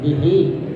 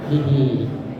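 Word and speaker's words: بِهِ: Jadi bihi, jadi ada huruf berbaris kasrah sebelum ha. Jadi cara membacanya dipanjangkan sampai satu alif saja, ya, dan dua harakat bihi atau dua harakat seperti mad tabi'i.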